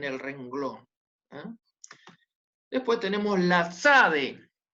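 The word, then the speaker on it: צדי: después tenemos la sade una tiene una pronunciación de dos consonantes la t y la zeta ese sonido no lo tenemos en español entonces va a ser sabe una tc está como el zumbido de una abeja o algo así y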